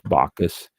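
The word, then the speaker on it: Bacchus: some bees here uh first one bakas I think it's bakus or bakas let's find out she has a little know it's bakas uh bakas BAC H us that is the Roman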